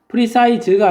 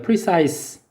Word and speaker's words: precise: 그다음에 이건 뭐라고 읽냐면 precise가 아니라 precise입니다. precise 스 발음이에요.